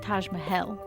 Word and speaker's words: Taj Mahal: was practicing and um apparently it's more like Taj mahel oh but I guess